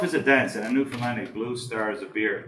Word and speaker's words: Newfoundland: Now, a scoff is a dance, and a Newfoundlandic blue star is a beer, and it's pronounced Newfoundland, not Newfoundland or Newfinland.